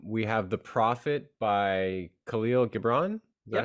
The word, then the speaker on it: Khalil Gibran: out recently um we have the Prophet by Khalil Gibran is that how you pronounce it yeah and I love that book